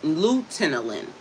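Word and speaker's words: luteolin: r c e t i n and lutein luteinolin l u t e o l i n. So hopefully I pronounced them right.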